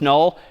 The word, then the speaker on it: NUL: N U L pronounced null is just the null terminator back/zero.